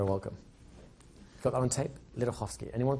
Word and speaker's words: Ledochowski: the name is lovsky the easiest way to pronounce it is if you take the C out in the middle and change the W for an F that will phonetically work better for you guys lovsky you're very welcome